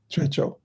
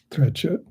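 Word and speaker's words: Trekchö: it's called something like Trecho. Trecho. In English, if it's spelled out, it looks like Trekchad, but Trecho.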